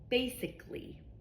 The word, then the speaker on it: basically: For example, basically. Basically the word basically the second a here in front of L l y is silent.